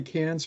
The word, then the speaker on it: Cairns: Actually, I should say Cairns because you wouldn't pronounce the terminal R with an Australian accent.